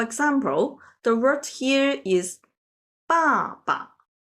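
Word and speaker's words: 爸爸: For example, the word here is 爸爸. The latter one, 爸, is pronounced very lightly.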